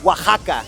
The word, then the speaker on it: Oaxaca: Oaxaca. Oaxaca? Yeah, sometimes the Oaxaca. X sounds like a J. Oh, that's cool. It depends on the word that it's being pronounced.